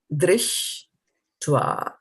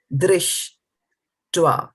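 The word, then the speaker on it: दृष्ट्वा: dṛṣṭvā. So remember, this is a R with a dot. So it's re, pronounced as a re and not a ra or a r, right? So dṛṣṭvā.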